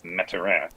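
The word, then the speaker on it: Mathurin: that is benedict metzera i believe that is the actual correct pronunciation is metteran just saying the third one i'm sorry just say mathura and everybody else does but that's not the correct way of doing it julian you have so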